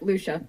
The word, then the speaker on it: Luscia: yeah awesome so let's start off talking with Lucia am I pronouncing that right yep Luccia awesome I don't normally get them all right